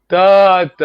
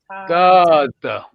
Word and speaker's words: Tata: Tata, remember long vowel? Tata.